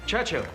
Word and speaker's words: Churchill: James's visit with Churchill Churchill that's how you say it all together like that I'd heard church and Hill but couldn't find either all I could see